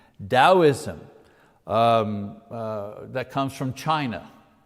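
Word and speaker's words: Taoism: first of which is dosm you know you pronounce the T like a D dosm um uh that comes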